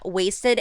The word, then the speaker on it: Watsed: They are from the band Wasted HXC, but the HXC is silent, so you don't say it, but I wanted to say it because I saw it in the bio.